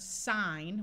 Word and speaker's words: sign: like here we have the word sign with a long I and a silent n and we add the